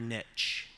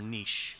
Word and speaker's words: niche: Finding your niche, or niche, depending on your pronunciation preference.